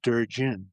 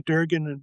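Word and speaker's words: Durgin: I said Durin. Is it Durgen? Do they say Durgen locally?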